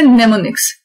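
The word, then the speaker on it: mnemonics: ये start M से होते हैं इसके स्पेलिंग, बट इसकी प्रोनाउंसिएशन है नेमोनिक्स। नेमोनिक्स वो शॉर्ट इंग्लिश लाइक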